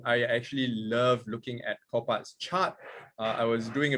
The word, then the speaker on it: Copart: All right, so we are looking at, how do you pronounce that? Copart or Copart? Copart.